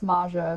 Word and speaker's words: Mxja: than welcome anyway welcome maya hello and it's pronounced maja if you want to say it that way